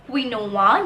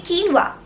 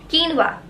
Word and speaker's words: quinoa: You will not pronounce this word as quinoa.